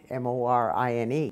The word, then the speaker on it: Morine: And my mom used to say, you don't pronounce it Morine. You're supposed to be Morine, the French version of Morine, I guess.